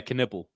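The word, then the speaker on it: Knueppel: How do you pronounce it? Knipple? Yeah, Knipple.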